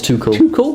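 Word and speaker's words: Tuchel: two full toothless thomas too cool that's how you pronounce it like a toucan yeah exactly chelsea beating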